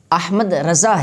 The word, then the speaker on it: احمد رضا: کو رکھا ہوتا ہے۔ تو آپ رحمۃ اللہ تعالی علیہ کا جو نام رکھا گیا تو وہ احمد رضا ہے۔ اس بات کو ماہر